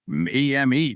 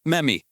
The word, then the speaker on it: Memmy: M-E-M-E, meme. If you have to name it after the town's culture. No, Gary. You're mispronouncing it. It's Memmy, like Jimmy.